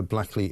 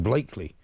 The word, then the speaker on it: Blackley: Graeme Stringer, MP for Blackley and Middleton South. Although somebody's just told me it's pronounced Blakeley and Middleton South.